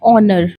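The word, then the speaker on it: honor: ध्यान रखिएगा इसमें एच साइलेंट होता है। तो करेक्ट प्रोनाउंसिएशन इसकी हो जाती है ऑनर जिसका मतलब होता है सम्मान।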